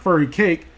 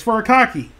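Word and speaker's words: furikake: I butchered the name it's not furry cake it's fur a cocky so I'm going to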